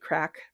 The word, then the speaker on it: craic: I know it was probably all over the place, but hopefully it was good crack. And I'm using that in the Irish terminology. It's spelled CRAIC and it means conversation.